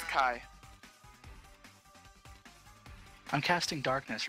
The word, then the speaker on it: ki: If it's CHI, I would say Chi. Kai. It's pronounced Kai.